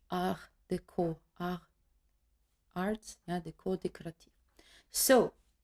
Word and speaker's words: Art Deco: Art Deco, written like that, but pronounced in French Art Deco.